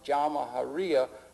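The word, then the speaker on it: Jamahiriya: perspective you'll hear Colonel Gaddafi talk about the jaharia pronounce jaharia which roughly translates an Arabic term which R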